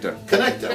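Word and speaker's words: Conecuh: We've got our, how do you pronounce this? Connecta? Connecta, right.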